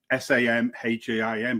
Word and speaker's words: Samhain: Samhain, but it's pronounced Samhain.